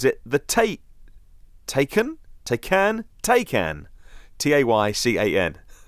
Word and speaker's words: Taycan: According to Reuters, Porsche claimed the Taycan, rhymes with bacon.